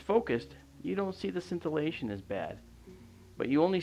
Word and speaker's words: scintillation: is something called atmospheric cellation and cellation uh it's spelled s c i n t i l l a t i o n scintillation atmospheric scintillation is this uh this right